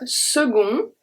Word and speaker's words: second: the next one is when c is pronounced so that's for the time a second and then we have segun so this is for